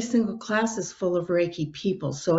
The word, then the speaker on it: Reiki: a couple times in your book titles is reiki if i'm pronouncing that right can you explain what that is yeah it's pronounced as reiki and it's really started oh gosh back in